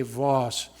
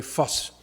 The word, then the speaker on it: Voss: You English speakers would say Voss, but we're going to use his German pronunciation today, Voss. It's like, why are you making such a fuss over this? That's how the Germans said Voss.